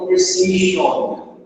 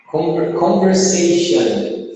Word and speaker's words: conversation: Muita gente acaba falando conversation, com esse on, né? Mas, na real, a gente pronuncia com som de an no final.